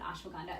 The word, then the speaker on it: ashwagandha: People pronounce it ashwagandha. It's one of my favorite. You say it so much better. I just say it the more Indian way.